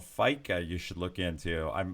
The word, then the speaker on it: fika: The Liger says there's a Swedish thing called fika you should look into. I hope he explains that because I have no idea what it is. Fika Fika, is coffee. Fika's If, coffee.